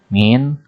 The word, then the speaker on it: mean: Tulisannya seperti itu, mean, bacanya min ya.